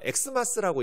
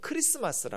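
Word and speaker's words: Xmas: 기억하면 좋겠어요 이번 질문은 저걸 마스라 읽는 분들 가끔 있는데요 엑스라고 읽으시면 안 돼요 왜냐면 저거는 영어 x 스펠링이 x 아니에요 어 이건 그리스 말 헬라 말의 알파벳 키라는 알파벳이 왜 그러면 저렇게 썼냐면 영어로 한다면 어 크라이스트 그 CH 그 마스 이렇게 쓰겠죠네 어 마스라 쓸 리가 없잖아요 그래서 저것을 박스라고 읽으시면 안 되고 크리스마스라 라고 읽으셔야 돼요 크리스마스인데 어이 그리스도를 영어로는 크라이스라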